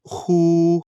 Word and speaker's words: 呼: The pronunciation of 呼. Like the who in the English word hoover, the pronunciation is assisted by the throat.